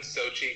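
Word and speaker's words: Xochitl: um like used one Sochi Gomez Sochi um yeah so they don't pronounce the L part though probably it goes sochido but everyone just calls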